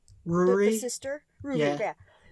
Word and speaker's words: Ruri: Her name is probably Luli, but it's pronounced Ruri because of Japanese.